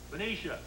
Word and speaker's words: Benicia: From Benica, California. Where's Benica, California, Jim? Where's Jim? Are you here, Jim? Right here. Yeah, where's Benica? Benicia.